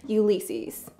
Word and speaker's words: Ulysses: I say his name is Bebito, but his name is actually Ulysses. Say it with me, Ulysses.